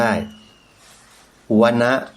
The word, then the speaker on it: วนะ: Google ดู ก็ ได้ วนะ ว แหวน กับ น หนู ไม่ ได้ อ่าน ว่า วน นะ โยม อ่าน ว่า วนะ เป็น ภาษา บาลี วณปะ สูตร โยม ลอง